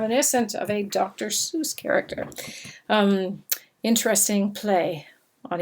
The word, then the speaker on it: Seuss: Seuss we say Seuss rhymes sort of with mother Goose and s/ii USS was